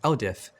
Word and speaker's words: LDIF: To begin using command line tools, you need to use something known as LDIF files, pronounced LDIF.